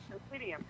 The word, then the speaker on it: Presidium: Yeah, Presidium, because it's Latin. That's why Presidium.